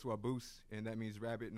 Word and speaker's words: Wabuz: It's Wabuz, and that means rabbit in Ojibwe. Okay. Well, like it's like pronounced the same, and I think in like